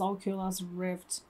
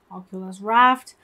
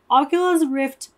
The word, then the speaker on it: Oculus Rift: It's so funny how they pronounced Oculus Rift, Oculus Raft, but I realized why they compare to Oculus Rift.